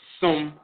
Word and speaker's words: Sem: Of course, Sem dealing with ritual invocation, service to a divinity, and all of that, that term is pronounced Sum in the Akan tradition.